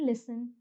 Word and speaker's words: listen: And finally, in the words whistle and listen, the T is silent.